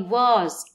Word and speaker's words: was: في جزئيه الكونفرزيشن يتدرب الطالب على انه ينطق الوير والواز بشكل خفيف وسريع لا يشدد عليها. You were late for class. لا، you were late for class. Sorry, I was late sorry, I was late.